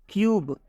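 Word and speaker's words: cube: ई आ रहा है तो जब यू के बाद से कोई कंसोनेंट आए कंसोनेंट के बाद से ई आता है तो इस यू का उच्चारण यू हो जाता है आप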